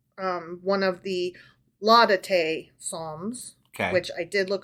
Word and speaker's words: Laudate: So the Laudate Psalms, which I've decided to pronounce it Laudate. Okay. Yep. Because the other way sounds too much like la da dee, la da da. You know, Laudati.